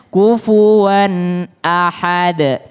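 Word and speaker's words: كفوا أحد: kita Haposan aksi membacanya kufuwan ahad ini tanwin and ketemu dengan Hamzah ketemu dengan Hamzah maka dia tidak boleh kufuan Ahed enggak tapi langsung kufuwan Ahad kufuwan Ahad ya kulhuallahu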